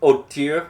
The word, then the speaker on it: hauteur: We have hauteur with a little French silent H at the beginning, just to show how educated you are to know not to pronounce the H, which is from French.